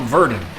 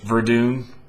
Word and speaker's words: Verdun: to me a World War I shooter called verden it's actually pronounced Verdun oops this has been highly recommended by a